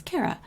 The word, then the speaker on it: Kara: my name is it pronounces my name as Cara but I pronounce my name is Kara so in order to